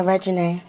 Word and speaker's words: Regine: Regine, am I saying that correctly? Yeah, Regine. You said it right.